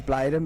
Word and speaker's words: Bladen: My name is Bladen, by the way, so we'll pronounce it as Bladen, but that's fine.